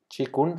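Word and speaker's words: qigong: de nadar medito hago chikun que para los que no lo conocen googleen o YouTube bien chikun se escribe q I gong q q I gong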